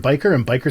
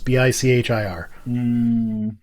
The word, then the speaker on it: Bichir: Yeah, you look up how to pronounce it, you'll get 3 pronunciations. The 2 I remember are Bichir and biker sounds stupid. It's Bichir. Do you like Bichir because it sounds pretentious?